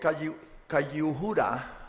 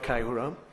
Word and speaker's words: Kayihura: Robert Kayihura, I don't know if I pronounced it correctly.